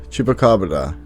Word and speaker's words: chupacabra: as a note i know it should be pronounced chupacabra and i will try to keep this in